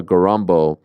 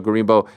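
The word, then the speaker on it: Gorimbo: replacing him is themba gambo um did I butcher his name I might have butchered his name is it themba gimbo thba gimbo gimbo why did I say gambo uh it's been a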